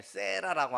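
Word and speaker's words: Sarah: 영어권에 가면 여자 이름들 중에 세라라고 하는 이름들이 참 많습니다. 세라. 근데 이게 원래 사라라는 말을 이제 영어식으로 발음하면 세라입니다.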